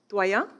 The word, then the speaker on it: Doyon: Is that how you pronounce it? Doyon.